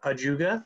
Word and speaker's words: ajuga: answers are oh someone has uh put in ajuga is that how you pronounce it yes yes okay good guess that